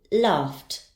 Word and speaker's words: laughed: its sound ends in the Eddie ending will be pronounced as T laughed laughed and finally we have